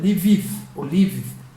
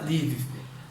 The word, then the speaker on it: Lviv: A primeira delas me perdoem se a pronúncia não sair adequada, é Lviv, que fica muito próximo da fronteira da Polônia.